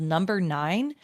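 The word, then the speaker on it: NMBR 9: One that I might suggest for you, and your friend might own it already, is called Number 9. Okay. It's spelled NMBR.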